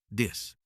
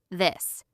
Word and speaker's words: this: Some learners say "dis" instead of "this." Remember, your tongue goes between your teeth for the THH sound. This.